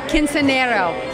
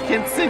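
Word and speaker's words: Quinceañera: You just opened with a fantastic film called, how do you pronounce it? Quinceanero. Quinceanera. I've been practicing it. Quinceanera.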